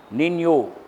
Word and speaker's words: Niño: El Niño, that is a Spanish word. Niño, that's how you have to pronounce.